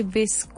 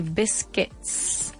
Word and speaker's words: biscuits: We don't say bisque. We say it like David pronounced it. We say biscuits.